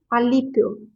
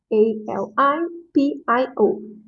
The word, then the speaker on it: Alipio: This, I know that is a little bit hard to pronounce. So my last name, Alipio. Alipio. Alipio.